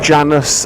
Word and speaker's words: Janus: First of all, I think the name rhymes with anus just a little bit too much. Janus.